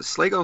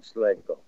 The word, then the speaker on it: Slagel: Going back when Brian Slagel, was it Slagel, is how you pronounce Slagel. It? Slagel, yeah.